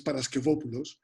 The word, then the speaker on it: Paraskevopoulos: Jamie, I love the way that you do pronounce it. Nevertheless, well, yeah, my surname is Paraskevopoulos.